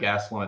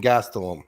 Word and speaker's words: Gastelum: There's no CH in Gastelum. It's not Gastelum. Well. If we're gonna call me out for pronunciations for that little thing, then you're just gonna have to correct me on every single fighter because I butcher. Wait till the Saudi card. Gastelum. All right. Well, apologies, Mad Lab. Gastelum. Yeah, he says it with a CH.